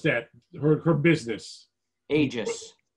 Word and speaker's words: Aegis: Aegis, that's the right way to say that word? Yes. So they see it all, everybody has that word all over the place. I've always wondered, what is the right way to say it? So Aegis. It's from the Greek.